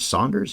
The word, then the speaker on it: Sanders: Norman Desmond George Saunders I always heard Saunders even though it's spelled Sanders he was in The